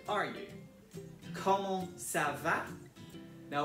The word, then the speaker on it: comment: Comment ça va? Now, although the first word looks like the word comment, it is pronounced comment.